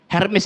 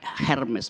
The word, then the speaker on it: Hermes: Hermes itu dewi yang dapat tugas untuk menafsirkan perintah langit kepada manusia dan sebaliknya keinginan manusia pada Tuhan. Namanya Hermes, bacanya Hermes. Yang sekarang jadi tas merek mahal Hermes.